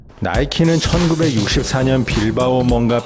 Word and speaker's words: 나이키: 시크릿의 가지 였으며 이중 크리스 시나 승리의 여신인 니케 미국식 발음을 딴 나이키 로 회사명을 정하게 됩니다